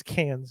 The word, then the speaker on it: Cannes: It's Cannes, is how it's pronounced.